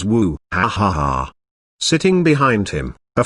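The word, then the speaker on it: 舞: know dances tl note martial arts is pronounced in chinese as wushu and dance is also pronounced as wu hahaha sitting behind him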